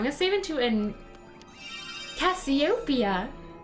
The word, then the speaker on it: Cassiopeia: it didn't study astronomy but Cassiopeia is not how anyone pronounces the name of that consolation it's Cassiopeia which makes a lot more sense because the P is emphasized it's really killing me